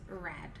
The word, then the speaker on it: read: So for the past tense of read is red. It's the same spelling, different pronunciation.